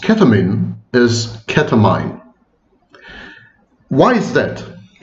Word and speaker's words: ketamine: continue my video saying ketamine. But of course the correct pronunciation is ketamine.